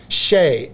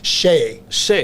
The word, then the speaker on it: Shea: Shay. It's the pronunciation is Shay. Shay. But Shay. it's spelled Shea, which looks like she or Shia when you pronounce it as most people have learned English.